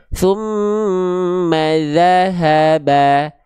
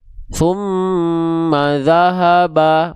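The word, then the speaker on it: ثم ذهب: Tumma dzahaba. Dza haba. Ya. Jadi bukan tumma dahahaba bukan ma dza ba. ma dza ha ba tipiskan pelafalannya ya.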